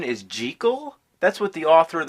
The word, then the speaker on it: Jekyll: pissed off lately you know that the proper pronunciation is G Cole that's what the author of the novel insisted